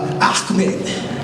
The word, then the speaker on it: Ahmed: Go to Ahmed. That's how you just pronounce that.